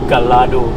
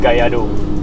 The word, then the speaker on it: Gallardo: obviously is a brain kado that's how you pronounce it with the y-guy yard oh not Gallardo because Kyoto is a Spanish word and double hell's in Spanish is pronounced as a ye so it's Lamborghini Gallardo LP sense for the engine position which is